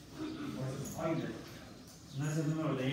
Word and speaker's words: Euler: Se pronuncia Euler. Era alemán, matemático alemán. Debe ser que pronunciarlo en alemán. El diptongo EU en inglés se pronuncia, en el alemán se pronuncia OI. Por eso es Euler.